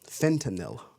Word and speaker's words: fentanyl: a nil I think it's actually how it's pronounced fentanyl yep I always say fet it's Fenton and